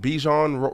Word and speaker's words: Bijan: Is it Bijan Robinson? Bijan Robinson. Okay, Bijan Robinson, and you have the